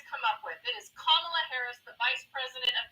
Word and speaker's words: Kamala: And at this point, if you cannot pronounce Kamla Harris, please don't say her first name. Just say EP Harris because at this point it just shows how ignorant you are. Her name is Kamla Harris.